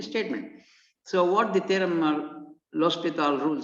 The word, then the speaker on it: L'Hospital: the following theorem gives a rule called los pital rule you have to pronounce it as los pital not l hospital it looks like as if it is a